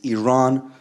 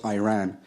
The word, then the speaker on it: Iran: our country's name wrong our country is named Iran not Iran please one once and for